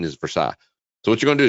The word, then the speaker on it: Versailles: a little town right outside lexington kentucky called versailles that's how the redneck's pronouncing around here proper pronunciation is versailles so what you're going to do is you're